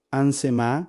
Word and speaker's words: Shemá: Hoy Ainsemá se pronuncia exactamente así. Ansemá es probablemente la palabra más sagrada para el pueblo hebreo, el inicio de su oración diaria más importante.